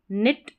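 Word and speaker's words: knit: इसको नाइट नहीं पढ़ेंगे। इसको निट पढ़ेंगे।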